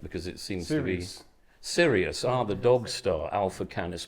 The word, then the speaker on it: Sirius: You just said that Cyrus is not a constellation. It's a Cyrus, well, you said Cyrus. We're talking about Sirius.